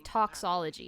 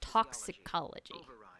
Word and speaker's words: toxicology: No, you're saying toxology. It's toxicology. You're missing a syllable in there.